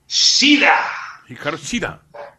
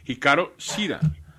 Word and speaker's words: Hikaru Shida: Hikaru Shida. I see how I said it wrong again. Hikaru Shida.